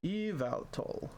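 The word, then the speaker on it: Yveltal: You do want to stress on the second syllable on the vow syllable. Eval. Pretty straightforward once you know. Interesting. And now you know. Eval.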